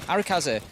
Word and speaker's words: Arakaze: out the sledge of arakazee struggle to say that name quickly arikaze yeah break it down into three syllables it's only when i